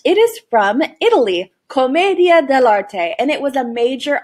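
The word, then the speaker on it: commedia dell'arte: can't guess by the way that this is pronounced it is from italy comedia de la te and it was a major art form during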